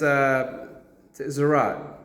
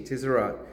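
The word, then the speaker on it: Tzaraat: Really, when you look at, because the word is Tzarat, T-Z-A-R-A-A-T, Tzarat.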